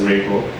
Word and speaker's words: Rego: So another aside is that actually OPA also has its own policy language, which is actually pronounced as Rego.